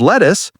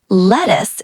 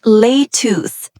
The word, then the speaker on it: lettuce: A bunch of bananas, a head of lettuce, a piece of ginger. Aha. Good pronunciation tip. Lettuce is short. Lettuce, not leth. Say it quick.